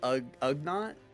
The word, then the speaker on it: Ugnaught: Oh, is it it's Ugnaught?